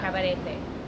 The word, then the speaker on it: Cabarete: But it is cabaret, not cabaret. Not cabaret, but cabaret. You got to just roll your R a little bit.